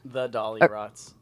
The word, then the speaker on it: Dollyrots: are at Dolly rots the dolly rots oh yeah oh oh right I said it wrong yeah it's it's just